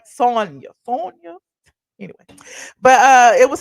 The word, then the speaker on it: Sanya: I always get her name wrong because I think about Tanya, but I know it's Sonya.